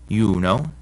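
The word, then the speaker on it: Iuno: rule is pretty easy if a word begins with an i and the next letter is a vowel like in these words it's actually a consonant and sounds like our y so these are pronounced yam yuno and yatus also when the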